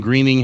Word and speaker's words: Groening: we were talking about Matt Groening greening how he pronounced his name and in the sex